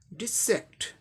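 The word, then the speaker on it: dissect: ये वर्ब है, सेकंड पे स्ट्रेस मार्क है, इसे जोर से बोलना है थोड़ा, डिसेक्ट डिसेक्ट डिसेक्ट, इस पे स्ट्रेस देके बोलना है, डिसेक्ट।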